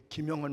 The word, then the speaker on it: 김영헌: 제 이름을 발음을 잘 못해요. 어떤 사람은 김영현이라 그러기도 하고 혼이라 그러기도 하고 뭐 환이라 그러기도 하는데, 허봉 장로님은 우리 권 감독님과 함께 우리 목회자 장로교 목사님과 학회가 하나 있거든요.